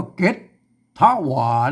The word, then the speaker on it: เก๋ดถะหวา: นะ ครับ ไม่ แก่ นะ ฮะ อ่าน ว่า เก็ต ถ้า หว่าน แล้ว ก็ อัน คน ทั่ว ไป ต้อง ไป